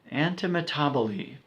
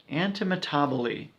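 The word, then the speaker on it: antimetabole: the next one is a tricky one to pronounce anta metabo Lee anta metabo Lee also known as empanada seeeeee it means thrown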